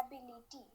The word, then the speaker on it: ability: देखिए, एबिलिटी जो है हम लोग तो अपने स्टाइल में एबिलिटी ही बोलते हैं, लेकिन जो टी होता है, के बिकम्स ख यहाँ पे यूएस में। ठीक है, टी बिकम्स ठ।